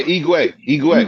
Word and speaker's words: Igwe: How do I pronounce homie name? What is it? Igwe? Is it Igwe? Yeah, Igwe.